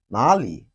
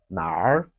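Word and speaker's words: 哪里: i would say that it has two pronunciations in chinese which is nali and nar nali and now i will ask a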